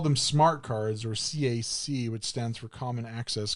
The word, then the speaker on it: CAC: We called them smart cards, or CAC, which stands for Common Access Card. We pronounced them as CAC cards.